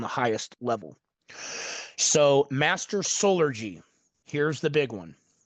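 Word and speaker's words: Solergy: And it's spelled S O L E R G Y like soul like salt and sun solar gy master solar.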